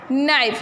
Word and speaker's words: knife: नाइफ, यहाँ पे भी नी जैसा ही होगा कि पढ़ा जाएगा नाइफ, लिखा जाएगा KNIFE लेकिन के पढ़ा जाएगा नहीं, इसका प्रोनाउंसिएशन नहीं होगा, प्रोनाउंसिएशन होगा उसका नाइफ, न से स्टार्ट होगा।